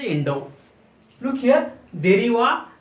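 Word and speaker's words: インド: In Japanese, India will be pronounced as Indo. Look here, Deriva, Indo.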